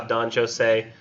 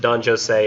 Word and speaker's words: Don Juan: we're talking about how Don Joe say and I'm assuming that's how he would have pronounced that Don Joe say and Don Dona Julia